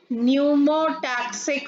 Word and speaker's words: pneumotaxic: Second is pneumotaxic center. Here P is silent.